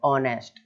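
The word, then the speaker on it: honest: है, ओ के पहले, वोवल के पहले एच आ रहा है तो एच साइलेंट हो गया, सिंपल है। तो ऑनेस्ट इस तरीके से बोलेंगे।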